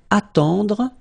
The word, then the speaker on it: attendre: Then attendre, attendre. Remember, final E, you don't insist on it, it just gives you the possibility to pronounce the dr, dr.